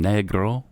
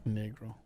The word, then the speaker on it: Negro: sense yeah that's good he adopted the latter's spanish pronunciation wanting his pseudonym to have a latin america field so would have been negro negro joey negro uh so that then